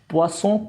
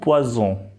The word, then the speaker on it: poisson: सो हमें साउंड से भी हम पता लगा सकते हैं कि सिंगल एस है कि डबल एस है। poisson, poison, fish and poison। सो ये एस और डबल एस में प्रोनाउंसिएशन का डिफरेंस है।